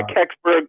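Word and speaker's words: Kecksburg: you got uh astonishing encounters um is it cburg is how you pronounce it untold story uh yeah kbur yeah that's the video I produced on the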